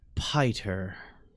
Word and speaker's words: Piter: Piter. Thank you. Make sure you say it like that. It's not Peter. He gets really upset if you say Peter.